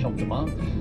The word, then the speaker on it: Champ de Mars: So the Champ de Mars is, sorry, I should point out field, yeah, and Mars, M-A-R-S, because you don't pronounce the S, Champ de Mars.